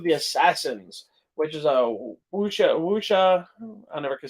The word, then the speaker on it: wuxia: So the next one we got is Code of the Assassins, which is a wuxia.